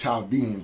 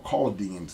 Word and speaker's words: Chaldeans: call Iraqis today, and what they call themselves Chaldeans or Chaldeans in Arabic, because the H is silent.